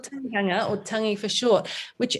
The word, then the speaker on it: tangihanga: Is that how you pronounce it? It's called tangihanga. Right. Yeah, it's called tangihanga, or tangi for short, which actually means, if you translate it, it actually is the word to cry.